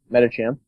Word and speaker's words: Metacham: pronounce that. Metacham.